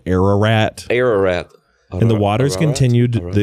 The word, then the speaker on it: Ararat: No, I think it's like if you roll your R's. Ararat. Yeah, a little closer. Ararat. Yeah. It's pronounced Ararat.